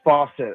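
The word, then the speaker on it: Fawcett: How do you say your last name? Is it Faucet or Faucet? It's Faucet. Faucet.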